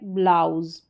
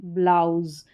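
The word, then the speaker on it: blouse: तो यहां पर एस का उच्चारण भी ज हो रहा है। क्योंकि एस से अगर पहले ठीक है? वोल साउंड या वोवेल रहता है तो वहां पर एस को हम ज पढ़ते हैं।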